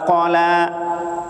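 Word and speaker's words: قَلَى: Gara-gara qanya panjang. Ya, harusnya ma wadda'aka rabbuka wa ma qala. Qala, qanya pendek, lanya yang panjang, jangan dibalik. Qanya yang panjang, lanya pendek. Artinya jauh berbeda. Qala ya murka, ma abghadaka.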